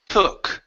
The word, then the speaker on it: took: It's a little It's still a little bit more of an ooh sound. So, drop the sound into your throat. H took They took their seats.